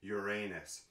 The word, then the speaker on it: Uranus: Yes, that is how you say it. It's Uranus. Anyway, today I wanted to take a look at one of my newest favorite bands, Nightwish.